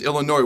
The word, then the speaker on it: Illinois: Headed into a top 25 matchup in Memorial Stadium this Friday night versus Illinois, where the S is silent for Memorial Stadium's 400th.